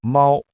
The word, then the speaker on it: 猫: 第一声是平的，比如猫，猫。